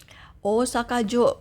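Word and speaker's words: 大阪城: Osakajo. Kalau kanji ini diikuti sama kanji lain dia menjadi jo panjak apa bacanya?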